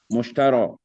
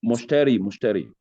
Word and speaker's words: mushtari: What of mushtara? Buyer. The one who Is it buys. no, mushtari. You have mushtari there.